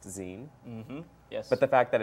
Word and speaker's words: zine: a podcast that the meltdown produces called it's pronounced zine mm-hmm but the fact that it's called that